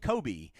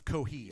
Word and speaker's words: Cohee: Tigers, and that's Kalen Kobe. Did I pronounce that correctly? Kobe? I think it's Cohee. Cohee. Oh, okay, so that's an H right there.